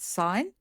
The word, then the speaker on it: sin: So sine is written as sin, but we do pronounce it sine.